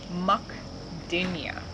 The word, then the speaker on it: Mukdenia: to a hookura and so this is called mukdenia and it's spelled m-u-k-d-e-n-i-a and uh its new growth has